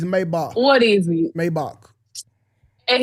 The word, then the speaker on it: Maybach: Cuz y'all be running the bitch saying Maybach and shit. Get the fuck out of here. It's Maybach.